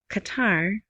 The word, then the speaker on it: Qatar: But yeah, so with kata, Qatar, right, is applying. That's how they say it on Bloomberg and the other MSNBC.